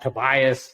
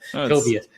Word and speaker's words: Tobias: My Texan upbringing tends to go with that Tobias vernacular pronunciation. So Tobias.